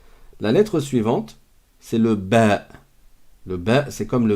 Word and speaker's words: ب: sur la prononciation là c'est comme un B en français sauf qu'on dit ba la lettre elle s'appelle